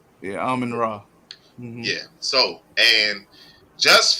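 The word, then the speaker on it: Amon-Ra: Amon St. Brown is the guy from the Lions, right? Ain't that how you pronounce his name? Yeah, Amon Ra.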